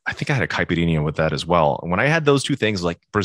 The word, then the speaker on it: caipirinha: When I had that, and I think I had a caipirinha with that as well.